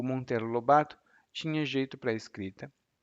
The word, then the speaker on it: Monteiro Lobato: faleceu e aí o Monter Lobato Aliás o Monteiro Lobato a minha pronúncia tá um pouco sem o som nasal o Monteiro Lobato herdou